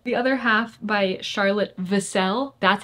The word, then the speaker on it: Vassell: The Other Half by Charlotte Vassell. That's how her last name's pronounced. I'm so sorry for all of the times that I said Vassell, but I finally looked it up as I